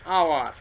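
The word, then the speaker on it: hour: যেমন an honest man, honest man, অ্যান আওয়ার। হয়ের মতো কিন্তু উচ্চারণ হচ্ছে না, এখানে অয়ের মতো উচ্চারণ হচ্ছে।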